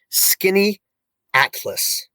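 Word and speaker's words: Skaneateles: that town you say it's pronounced skinny axis just like in able ease right so skinny atlas that's like Oh everybody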